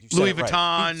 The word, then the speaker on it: Louis Vuitton: Louis Vuitton.